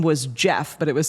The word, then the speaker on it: Geoff: of the fans that wrote in's name was Jeff, but it was spelled Geoff. And the co-host mispronounced it and said that his name was, she was like, we have a letter in from Geoff.